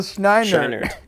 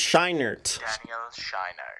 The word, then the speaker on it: Scheinert: the pronunciation one second the weirdo who did this said Daniel schneidered it's shinert it's Shiner you're adding two ends that's not me that's